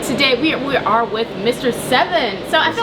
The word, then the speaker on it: Sevyn: with Mel and today we are with Mr seven so I feel like I was pronouncing your name right like yeah it's seven okay what first of all let's get into